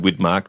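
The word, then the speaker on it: Widmark: said blonde guy who but Richard whitmark rhymes with skidmarks you Richard whm and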